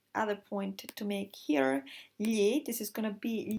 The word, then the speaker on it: gli: To pronounce gli, just to go with the tip of the tongue, touch the palate, and then put your tongue flat again to normal standard position.